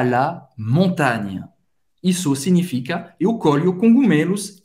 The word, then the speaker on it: montagne: À la montagne. Na montanha, à la montagne. Você pode perceber que acaba no GN, né? Não, o E no final não dá para ouvir, não se pronuncia.